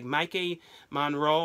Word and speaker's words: Maika Monroe: It's Maika Monroe.